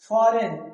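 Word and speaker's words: foreign: एन से पहले जो जी आ रहा है वो क्या है? साइलेंट होता है।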